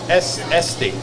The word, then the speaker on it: Estes: Hyphenated with Estes, very much like the Estes Trucking Company. I've heard of them. Okay. So? Mm-hmm. The S is silent. Both of them, yes. Estes.